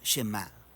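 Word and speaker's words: שמע: es Oye o escucha Y en hebreo se pronuncia shemá de ahí es de donde viene el nombre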